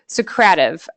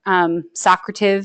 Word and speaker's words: Socrative: And Josie perfectly introduced for exit tickets and entrance tickets Socrative, Socrative. Some people say I go off of the Socrative seminar pronunciation, so apologies if you already use this and pronounce it differently.